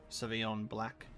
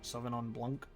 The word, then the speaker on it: Sauvignon Blanc: There's like a Hear No Evil, which is a Sauvignon Black. Terrible pronunciation. Sauvignon Blanc.